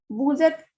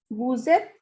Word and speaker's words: vous êtes: Vous êtes qui? Who are you? Vous êtes qui? Vous êtes will be read as the relationship between S and E. So S sound is transferred to E.